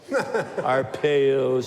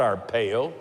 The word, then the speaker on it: Arpaio: once burned me up Arpaio's so bad our pale it's Arpaio it's not our pale everybody knows how to